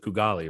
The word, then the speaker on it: Kugali: But that's what you're doing with Kugali, right? Did I say it right? Yeah, you pronounced it right.